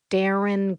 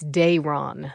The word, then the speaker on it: Darren: His name's Darren. She glanced at Cornbread. Is that how you pronounce it? Not even close, cutie. It's Dron. That's how you say it.